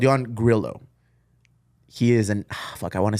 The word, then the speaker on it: Grillo: Grillo. Only because I've known that's how he pronounced it on other podcasts.